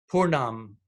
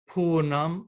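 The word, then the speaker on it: pūrṇam: throat on poor Nam the long accent over the U is a poor so it doesn't extended you the dot unto the end in this case really doesn't change the pronunciation at all however in the next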